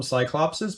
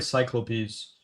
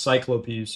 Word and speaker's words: cyclopes: they're supposed to be called everyone's called them cyclopses but they're really cyclopes I when I heard that for the first time that blew my mind it's pronounced cyclopes I'm pretty sure plural Cyclops or cyclopes cyclopes